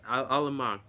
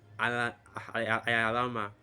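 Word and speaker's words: עלמה: can be proved that Alma, which is how you say it in this modern day Hebrew, but in the actual old Paleo Hebrew, we know that the word is actually Alama.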